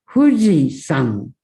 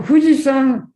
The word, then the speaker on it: 富士山: Fuji-san. San is onyomi. Okay. But there is a kunyomi, Japanese reading. San is closer to Chinese pronunciation.